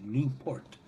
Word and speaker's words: LaPorte: I'm told in Italy it's pronounced Luport.